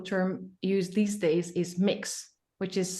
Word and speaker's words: Mx: used these days is mix which is spelled MX and it's pronounced as mix in one of the